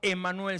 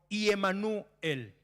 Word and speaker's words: Emanuel: Y la pronunciación correcta, porque la escritura correcta de Emanuel se diría no Emanuel, sino Iemanuel. Empieza con una I.